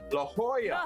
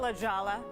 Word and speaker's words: La Jolla: to pronounce look la la hoya oh do not call it la jala do not do i'm calling it la jala la hallo the jalapeno pepper everything about la jolla it's la hoya hey by the way